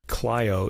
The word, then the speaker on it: Clio: Track 15, the fifth movement, Cleo, the muse of history. I've also heard this pronounced clio in English.